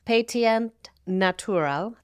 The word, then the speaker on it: Pétillant Naturel: In French, the actual pronunciation is Pétillant Naturel.